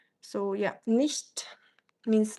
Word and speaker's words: nicht: Ist nicht or nicht, I mean the way you pronounce it? Oh, nicht. It's like a sh sound.